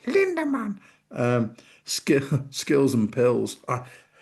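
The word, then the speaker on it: Lindemann: Um my two is uh Linderman because that's how you say it. Linderman.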